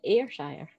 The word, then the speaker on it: Ayrshire: It's pronounced Ayrshire.